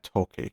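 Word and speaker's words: Tochi: toi or to yeah it's probably toi rather than Toki because it's an Asian name so it's probably not the hard CH because that's a very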